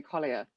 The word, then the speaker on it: Collier: So I am Collier. Collie, like the dog with an R.